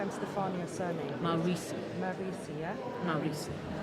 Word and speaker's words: Maurizi: Maurizi. Maurizi, yeah? Maurizi. Think of Mao and Risi.